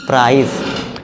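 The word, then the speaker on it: price: आपको देना है तो इसे हम क्या पढ़ेंगे प्राइस अब फिर से देखिए सी के बाद ये आ गया तो इसे क्या पढ़ेंगे हम बैलेंस इस वाले स का साउंड देंगे।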